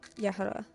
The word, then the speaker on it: Jehoda: This might be dramatic, but my name is Jehoda and pronounced like Yehuda.